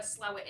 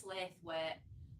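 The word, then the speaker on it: Slaithwaite: this house but there was a house in slow it um so we don't know where slow it is it's also pronounced slave where but the Archer people pronounce it slow it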